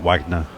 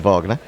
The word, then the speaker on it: Wagner: composer or exag now seemingly it's as in Robert Wagner yes they hedge the jingle indeed not Richard Wagner leeches on thirteen he's